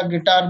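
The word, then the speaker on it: guitar: यदि यू जी के बाद आता है फिर साइलेंट होता है। जैसे गैस मीन्स अंदाजा, गिटार मीन्स सारंगी, गाइडेंस मीन्स मार्गदर्शन, गार्ड मीन्स रखवाली करना।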